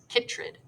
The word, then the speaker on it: chytrid: Chytrid. Ooh, I like how they provided a pronunciation there because I would have said that wrong.